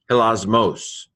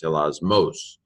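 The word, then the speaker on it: ἱλασμός: Hilasmos. Notice how I tend to, in my pronunciation, stress the accent that has the accent on it. That's about all I do with accents. Hilasmos.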